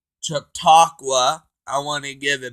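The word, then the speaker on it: Chautauqua: THANK YOU to camp took took took let me say it right camp chatauqua I want to give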